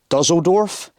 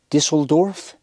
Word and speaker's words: Düsseldorf: Like I say HYMER and it's HYMER, and Dusseldorf is Düsseldorf.